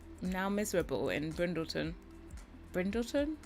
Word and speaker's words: Brindleton: it's now miserable in brindleton brindleton it's not printed it's not brendelson Bay yeah I was